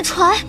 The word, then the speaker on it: 船: 我们早就是一张床上的人了。你发音不标准，应该是船。